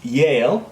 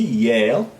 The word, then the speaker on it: Yale: and the J again next one is Yale the university Yale and jail okay what is your son Yale or jail very very different right okay next yoke